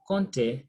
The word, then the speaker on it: compter: We have compter, P silent, compter is to count, okay?